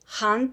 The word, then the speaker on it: Khan: Asparuch and grandson of Han Kubrat. Lots of terminology for English speakers, for foreigners, so let's review. What does a Han mean? You guys will spell it as a Khan. We say Han.